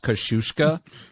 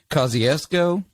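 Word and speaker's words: Kosciusko: it should be pronounced kashushka it was named for a polish-american general okay and like we know how his name should be said but mississippians say kosciuszko and it's just or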